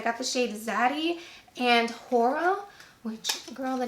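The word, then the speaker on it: Whora: And this one is the shade Hora, and it's spelled W-H-O-R-A.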